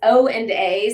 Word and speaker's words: OANDA: pronounce this oanda yeah so interestingly enough it's o and a so it's oanda but it's Olson and